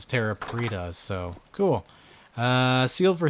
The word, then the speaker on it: Terra Preta: Apparently that's the right way to say it. It's Terra Preta, so cool.